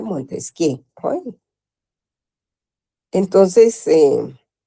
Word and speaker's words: Montesquieu: Se escribe Montesquieu, jóvenes, se pronuncia Montesquieu, ¿oyeron?